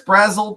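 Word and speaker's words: Brazzell: But Chris Brazzle, that's how it's pronounced.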